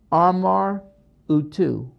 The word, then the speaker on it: Amar-Utu: Now, there's some evidence that this horned animal could be a representation of Amar Utu, and I'll spell it to you.